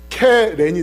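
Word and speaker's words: קֶרֶן: 예인데 점 3개를 붙이면은 케렌이 돼요.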